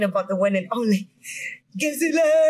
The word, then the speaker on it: Gezile: Gezile. Gezile. Yeah? Thick sound. Oh. But I just don't know how to pronounce it.